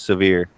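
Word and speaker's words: Sevier: it is and yes I believe it is pronounced severe severe Tennessee really I think so like Seville though okay interesting well yeah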